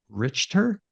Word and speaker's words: Richter: another guest today her name is richer right did I get that you got it